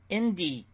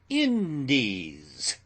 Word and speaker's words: Indies: spent in the East Indies. Pronounce it short. Indies, says Adams.